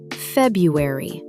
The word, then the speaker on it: February: The first R is usually dropped in casual speech. Pronounced February.